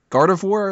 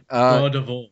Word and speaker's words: Gardevoir: God of War? Is that how you say it? Gardevoir.